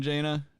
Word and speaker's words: Jana: fighter how you doing jaina or jana janna s that's right it's jana cause they're the banana remark i remember your name rhymes with banana i gotta i gotta